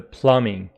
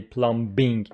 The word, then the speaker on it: plumbing: big problem with the plumbing plumbing please don't say pluming Plumbing B after m is not pronounced B sound after M